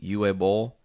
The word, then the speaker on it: Uwe Boll: Uwe Boll.